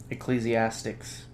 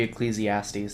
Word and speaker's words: Ecclesiastes: Spell that? Ecclesiastics. Ecclesiastics. Or it'd be Ecclesiastes.